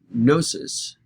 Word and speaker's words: gnosis: call them gnosticism and gnosis is the greek word starts with a silent g g-n-o-s-i-s is the greek